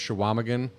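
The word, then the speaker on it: Chequamegon: Is they kind of mispronounce it in the movie, but I've heard it pronounced Shawamigan.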